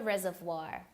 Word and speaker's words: reservoir: river or a water reservoir so this word here this is a French word a French pronunciation with the O and I it's wah so Reservoir all right